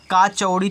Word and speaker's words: कचौड़ी: जैसे यहाँ पे का चौड़ी थोड़ी ना होता है, कचौड़ी होता है ना, तो इतना आपको समझना पड़ेगा।